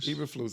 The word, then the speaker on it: Eberflus: Eberflus? Eberflus.